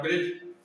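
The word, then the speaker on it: bridge: एज, किनारा, ब्रिज, एक spelling नदी, ब्रिज, इसमें क्या रहता है, डी साइलेंट रहता है, ब्रिज।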